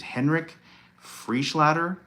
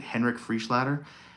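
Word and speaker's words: Henrik Freischlader: His name's Henrik Frischlader, I believe is how you pronounce it. Henrik Frischlader.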